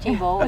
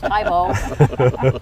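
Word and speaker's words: Thebaud: not pronouncing it right it's not tebow it's tybo that's the most often made comment about about how to pronounce the tebow and where's the bathroom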